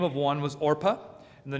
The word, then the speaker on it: Orpah: find out later marries Orpah I keep having to pronounce that very carefully cuz it's so close to Oprah but I have to